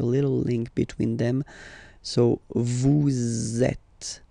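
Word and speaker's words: vous: Vet. Same thing here. Notice that final S is not pronounced at.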